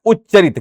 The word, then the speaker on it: उच्चारित: वास्तव में ये शब्द होता है उच्चारित। क्या होता है? उच्चारित होता है।